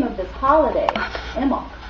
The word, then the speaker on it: Imbolc: The name of this holiday, Imbolc, which is spelled Imbolc, but the B is silent, literally means in the belly.